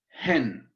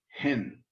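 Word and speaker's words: ἕν: It's hen. Notice that the breathing mark is facing the other way. It's rough breathing. It also has an accent. And we pronounce it and spell it hen.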